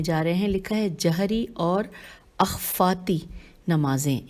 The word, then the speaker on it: جہری: رہے ہیں۔ لکھا ہے جہری اور اخفاتی نمازیں، ہجے کرتے ہیں جیم ہے رے چھوٹی ہے، جہری اور اخفاتی میں